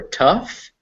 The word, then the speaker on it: tough: pronounce those sounds anymore there are a few words that end in gh and you pronounce it as an f like cough or tough but those are rare